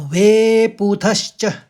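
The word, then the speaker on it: वेपथुश्च: ये तो आसान है थु के साथ आप पहले श निकालेंगे फिर आखरी में च में खत्म करेंगे तो वे पूथश्च वे पुथुश च शरीरे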